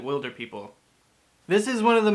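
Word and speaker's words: Wilderpeople: the will do people everyone's going in hunt for the wilder people even though in the movie they pronounce it will der people this is one of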